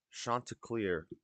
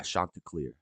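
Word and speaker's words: Chanticleer: Google oh nuns priests shant clear pronunciation I think it's yeah shant CLE that's right shant CLE uh is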